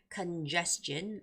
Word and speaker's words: congestion: Congestion, like Hyun mentioned, it's congestion with the second syllable stress.